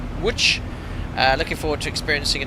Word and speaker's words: Łódź: now that's pronounced Łódź, isn't it? Not Łódź.